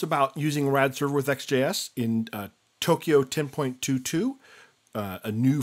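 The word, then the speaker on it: Ext JS: check out centric comm slash products thus XJS ext Jas is pronounced XJS docs Sencha comm that blink there shows you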